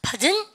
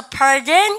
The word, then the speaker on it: pardon: pardon 이렇게 해요. 오늘요 흉내 내보세요. 그래야지 들으실 수 있습니다. 발음을 갖다 합시다. pardon. pardon 이런 뭡니까? 영국 애들이고요. 미국 애들은 중간 R 발음 하거든요. 여러분들 캐나다 애들하고 해서 pardon 그렇게 R 발음 하면 돼요.